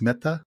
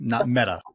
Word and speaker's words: Mehta: So I'm trying to be a little bit softer with the "t," right? It's Mehta, not Meta.